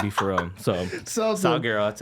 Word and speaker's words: Sulguero: Sulguero.